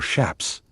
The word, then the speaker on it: chaps: You inspect your chaps, or shaps as the old hands pronounce it.